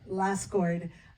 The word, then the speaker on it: Lassgård: Lassgård did in the Swedish film.